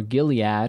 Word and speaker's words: Gilead: Gilead, or Gilead, as it's normally pronounced, is a region of Israel that is across the Jordan River.